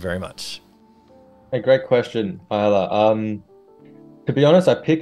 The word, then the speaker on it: Isla: Also, my name is pronounced Isla.